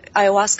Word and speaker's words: ayahuasca: Oh, ayahuasca? Ayahuasca. I think that's how it's pronounced.